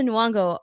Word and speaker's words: Nyong'o: Um but while they were doing that, they also showed Lupita Nyong'o. Is that how you say her name? I can't even Yes. Even Nyong'o. Lupita Nyong'o.